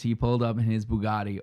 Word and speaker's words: Bugatti: pulled up in his bugatti or as he pronounces bugetti that's how he says it um he's not from